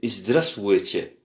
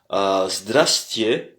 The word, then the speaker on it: здравствуйте: pour dire bonjour, c'est здравствуйте. Здравствуйте, здравствуйте. Alors, здравствуйте. Здравствуйте, c'est là où se situe l'accent, encore une fois. L'accent se porte sur la première partie. Donc, здравствуйте. Il y a 3 syllabes.